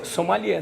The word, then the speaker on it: sommelier: É o nome francês? Pelo menos a pronúncia francesa.